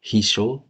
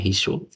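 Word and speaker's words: 秘書: Toh Hisho, ini cara bacanya Hisho.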